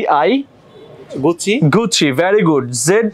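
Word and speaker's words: Gucci: ডি I Fendi ফ্রেন্ডি জি ইউ সি আই গুচ্ছি গুচ্ছি very good Z ই জি এন এ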